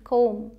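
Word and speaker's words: comb: एम बी अगर साथ में आता है, मतलब पहले एम आए फिर बी आए, तो इसे हम म ही बोलते हैं। बी यहाँ पर साइलेंट होता है, ये चुप रहता है बिल्कुल, जैसे सी ओ एम बी, कोम, यहाँ पर बी नहीं बोलते।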